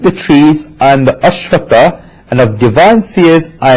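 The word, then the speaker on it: Aśvattha: The majority of people make a mistake when chanting Ashwatha. They chant it as Aswashta. It should be pronounced as Ashwatha and not Ashwashta.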